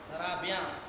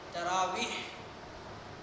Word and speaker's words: تراویح: Pronunciation ہے، تلفظ ہے، غلط ہے۔ ترابیاں، ترابی، یہ غلط ہے۔ اصل جو پروننسیشن ہے، تلفظ ہے، وہ یہ ہے تراویح، آخر میں ہائے، تراویح۔ اب یہ تراویح کیسے بنا؟